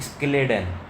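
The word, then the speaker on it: Schleiden: Basically pronunciation में काफ़ी लोगों को दिक्कत होते हैं, बट इट इज़ स्केलेडन, जो कि एक जर्मन बोटनिस्ट थे।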